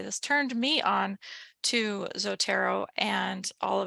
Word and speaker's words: Zotero: way down to the bottom and we hit zotero and I have a little pronunciation here zotero I'm going to make this